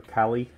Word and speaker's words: Kailh: It has Kailh switches that is spelled with the K-A-I-L-H. It looks like Kailh or Kailh, but it's pronounced Kailh.